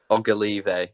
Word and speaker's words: Ogilvie: For me, that would be, is it Conor Oglive? How do you pronounce it? Ogilvie.